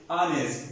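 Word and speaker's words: honest: तो लिहाजा आप इस यहाँ एच साइलेंट है, यहाँ किस तरह प्रोनाउंस करेंगे, आनेस, इसमें एच साइलेंट है।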